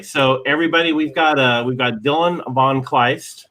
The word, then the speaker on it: von Kleist: So anyway, so everybody, we've got Dylan von Kleist, right? I pronounced your name right, correct?